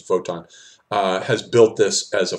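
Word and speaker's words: Wotan: by Woden in particular I prefer the vote on that the pronunciation is vote on has built this as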